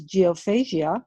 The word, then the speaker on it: Geophagia: Kieran fronts the anarchist folk punk collective known as Geophagia. I hope I pronounced that correctly. Yes, that's correct.